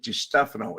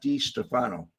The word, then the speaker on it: DeStefano: how to pronounce it it's really DeStefano it's not D Stefano but I never called